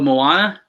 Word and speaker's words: Moana: Oh, Moana. Moana. That's how you say it. I knew I wasn't saying it right.